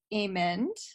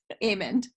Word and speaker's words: Aymond: going to interview Ament Ament almond Aymond first first time I've known you for years and years and years and I realized recently that I was saying your name wrong anyway Aymond is